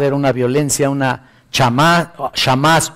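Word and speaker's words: חמס: Mira, la palabra hebrea para violencia es una palabra que eh se pronuncia así, chamas o sha. Shamas, mejor dicho, es la palabra shao de las personas y la rebelión en general.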